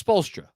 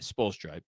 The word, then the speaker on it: Spoelstra: Andrew's correcting my pronunciation. It's Spoelstra. That's how I say it. Spoelstra. I mispronounced before.